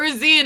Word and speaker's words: zine: Or Zine, I think it's actually pronounced. I always pronounce it Zine. I always pronounce it Zine. Because, like, it's supposed to be, like, short for, like, magazine, so.